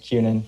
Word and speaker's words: Kunin: did you your honor it's uh kunin pronounced cunan from the attorney general's